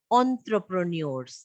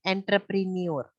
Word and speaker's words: entrepreneur: Entrepreneurs. This is a word exactly how it is pronounced. It is not entrepreneur. It is entrepreneur.